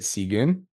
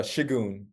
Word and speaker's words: Shigun: Is it Sigun? Hey man, it's Shigun.